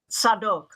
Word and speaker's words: Zadok: appointed a man named zadic z a d o k in Hebrew pronounced sadok to officiate as the